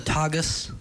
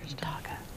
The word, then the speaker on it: Tagus: The Tagus. Yeah, that's not what he said the first time. What he said the first time. Taga.